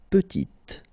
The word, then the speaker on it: petite: Il est petit, elle est petite. Okay, exactly the same idea. Final T is not pronounced, and then when you add this E at the end, you get the sound T, petite.